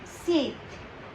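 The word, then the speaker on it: sept: Here P is silent, so you will say, what you will say? You will say seat.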